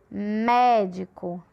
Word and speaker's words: médico: Médico. Médico. É uma proparoxítona porque também é a antepenúltima, né? A sílaba tônica da palavra médico é mé.